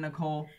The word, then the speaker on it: Nichol: I think she pronounced it Nichol since there's no E on the end. It's literally N-I-C-H-O-L.